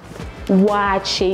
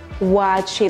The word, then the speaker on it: Waakye: favorite food favorite favorite favorite favorite is watching watch it you see how I pronounce it watch it like it has some you know that I